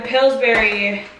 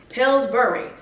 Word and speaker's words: Pillsbury: So I have the Pillsbury, because I say berry, but it's spelled burry. Pillsbury, but who wants to say that?